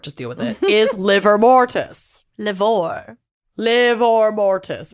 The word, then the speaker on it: livor: Is livor mortis. Livor. Livor mortis. But it is just pronounced liver.